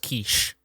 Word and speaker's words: Kishi: No, I believe it's pronounced quiche.